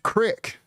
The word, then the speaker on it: creek: Thompson says, crick. It's pronounced crick. Please do not tell me you guys call creeks cricks.